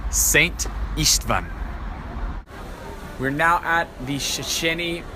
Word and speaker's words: István: So the SZ is pronounced as an S, as we would say it, so that's Saint. And the S is pronounced with an SH. So that would be Saint István.